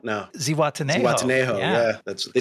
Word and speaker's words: Zihuatanejo: Zihuatanejo? No. Zihuatanejo.